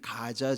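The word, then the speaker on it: Gaza: 접경 이죠 지금 거기 가자 지구에 있는 팔레스타인 사람들을이 이집트 쪽으로 지금 피난시키는 작업을 하고 있는데 지금 거기가 지금 여기 오늘 본문에 나타나는 가사라고 하는 것이 영어로는 가자라고 읽어요 그런데 거기에이 한 기생집에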